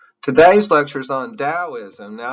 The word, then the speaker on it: Taoism: today's lecture is on taoism now i know there's a big t on here but it's pronounced d taoism now this is lao